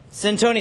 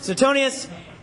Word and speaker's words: Suetonius: also historian you have sent Oni thank you I looked at the pronunciation soon Suetonius and it was a